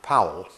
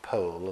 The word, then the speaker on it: Powell: fourth is on Enoch Powell and he pronounced his surname incidentally Powell and not po as people sometimes do now Enoch power